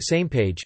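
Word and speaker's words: SMPAG: missions planning advisory group SMP AG pronounced same page who would look at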